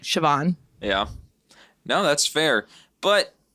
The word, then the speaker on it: Siobhan: But in Ireland, it's like Siobhan.